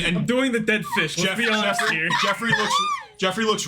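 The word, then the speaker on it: Geoffrey: It's Jeffrey. His name is Jeffrey. Not Joffrey. It's spelled G E O F F R E Y. It's not J O F R E Y. It's Jeffrey.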